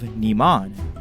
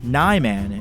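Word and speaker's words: Niman: take the beginning of naman to me if naman was meant to be spoken with a more active eye it would be spelled as Neyman instead of naman and when it comes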